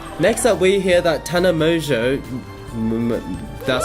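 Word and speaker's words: Tana Mongeau: Next up, we hear that Tana Mojo, that's how you pronounce it, made controversy again this week by simply saying, I love you to a friend.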